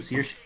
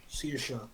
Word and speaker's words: Saoirse: How do you pronounce that? Saoirse. Saoirse.